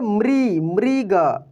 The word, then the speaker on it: मृग: ये सिंपल री, रीता, रिबन, लेकिन ये री देखिए इसमें वाइब्रेशन होता है। मृ कैसे, मृग मृग समझ रहे हैं ना, अमृत अमृत, कृपालुता कृपालुता, आप उच्चारण करके देखेंगे तो क्लियर हो पाएगा।